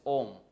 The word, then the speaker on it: ohm: It is to be pronounced as ohm, O-H-M, ohm. Okay.